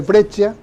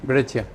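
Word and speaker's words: Breccia: brescia Sí con 12 yo lo pronuncio Como creo que se pronuncia brecha y yo siendo una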